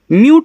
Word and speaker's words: mute: म्यूट पढ़ोगे।